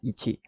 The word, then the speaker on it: Ichi: do so anyway, that the first prototype's name, because it was developed by a Japanese tech company, is supposed to be pronounced as Ichi, although this has the same meaning with the number 1 when translated.